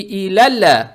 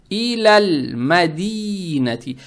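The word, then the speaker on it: إلى المدينة: Теперь, когда букву лам с сукуном произносим, язык тут же не надо убирать, чтобы не было иляля мадинати. Не иляля, надо читать иляль мадинати.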